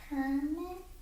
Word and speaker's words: permit: So when I said we need to get a permit, then the accent was on the first syllable, and it was a clue when I had that article that a noun was coming.